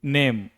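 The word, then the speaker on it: name: जब किसी शब्द का अंतिम अक्षर क्या हो? इ हो तो भी उसका उच्चारण नहीं होता। यह है रूल नंबर टू। ठीक है? देखिए नेम।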